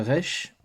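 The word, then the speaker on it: ריש: c'est vraiment très proche donc le Reich ou le Reich se prononce comme un r alors moi généralement je fais un rouler rouler donc à l'espagnol ou comme dans les autres langues sémétiques le R est roulé mais vous pouvez faire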